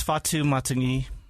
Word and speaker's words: Fatu Matagi: We're going to just let you introduce yourself because I can't get it pronounced right. No worries. My name's Fatu Matagi, and I'm from West Valley City, I guess.